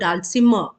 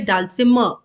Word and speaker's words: dulcimer: we pronounce this word dalsima okay so we don't actually create the sound of R you say dulcimer okay so this is